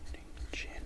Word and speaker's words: Groningen: This one here being Groningen, which is probably pronounced. The G is more of an H sound.